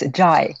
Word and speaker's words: Zhai: Cynthia Zhai. And is that the correct pronunciation of your last name, Cynthia? It's Zhai.